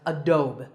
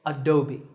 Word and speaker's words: Adobe: often pronounced wrongly as a dome but that e at the end is not silent it should be said as an e sound so it's Adobe number 9 is this